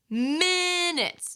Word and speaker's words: minutes: ebook so for example the word minutes minutes you can hear the stresses minutes but in a language like Spanish the stress would be different like minuto minuto right so if I'm putting my Spanish stress on an English word it would sound like minutes that is very hard to understand even if I'm saying the sound correctly the stress is wrong so I want you